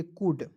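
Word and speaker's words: could: के मतलब की में डी से पहले जब एल आएगा तो एल को साइलेंट रख यहां पर मैंने एल को कर दिया सी ओ यू एल डी तो इसे पढ़ेंगे सीओ यू एल डी को पढ़ेंगे कुड अब क सर इसे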